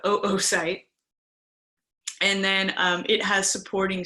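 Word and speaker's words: oocyte: is the unfertilized egg also known as an oo site not pronounced su site but oo site and then it has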